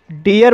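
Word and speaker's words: dear: और डियर शब्द में डबल ई के बाद आर आया है और इस शब्द में पहली ई का उच्चारण शॉर्ट साउंड ई होगा और दूसरी ई का उच्चारण आ होगा, इसलिए इसे डियर पढ़ा जाता है।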